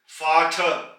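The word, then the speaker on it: Vater: और चूंकि आर एंड में आया है इस वजह से हम आर की आवाज नहीं निकालेंगे, आर को प्रोनाउंस नहीं करेंगे, फाठ, फाथर।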